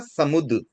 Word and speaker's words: समुद्र: थोड़ा करेक्शन कर ले, इसका सही उच्चारण होगा समुद्र। ये थोड़ी मिसप्रिंट है इस बुक में, मतलब इस बुक में नहीं, ऐसे ओवरऑल बुक में मिस्टेक ही है। तो ये तो अब नई पब्लिश कभी होगी, उसमें करेक्शन आए तो आए। फिलहाल आप ध्यान में रखने के लिए इसमें सही उच्चारण होता है सम प्लस उत, ये 2 शब्द से मिलकर बनता है समुद्र।